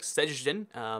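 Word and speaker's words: Szczecin: this one right here I've heard some Polish people say it it's something like sejun again like try and pronounce that it's really tricky and then there's even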